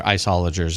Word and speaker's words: Illager: Oh, and isologers, who I've heard mispronounced in every number of way. But I believe they're isologers is the correct pronunciation.